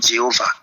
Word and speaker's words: Jéhovah: Les spécialistes vont débattre sur la prononciation exacte, mais les hypothèses les plus courantes sont Yahvé ou encore Jéhovah.